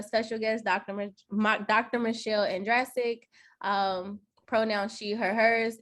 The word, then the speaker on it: Andrasik: Uh it's andic rhymes with Jurassic. So Andraic. Okay. Um so uh today you all we have a special guest Dr. Dr. Michelle Andraic.